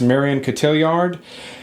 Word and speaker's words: Marion Cotillard: but allied with Pitts and I think it's pronounced Marion Cotillard that is a really good that World War